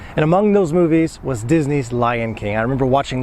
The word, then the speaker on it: Disney: see what the error comes from but never dicen a always Disney just like Presley Elvis Presley Walt Disney for